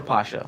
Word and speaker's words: Pasha: So Pasha or Pasha? Yeah. Same company, Basically. just pronounced differently.